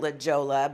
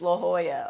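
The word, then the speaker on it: La Jolla: when I moved to California I called it Lajoie but I now know it's pronounced La Hoya okay and I met an attorney and my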